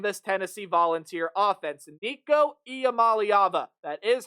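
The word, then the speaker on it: Iamaleava: course by previewing this Tennessee volunteer offense Nico IAM malava that is how you say that last name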